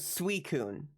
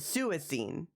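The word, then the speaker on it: Suicune: Now, apparently the official pronunciation is suicun.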